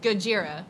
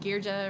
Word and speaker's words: Gojira: Is it like Gojira, right? Good is Yep. That's right. I said I kept saying what? Gja or I can't remember.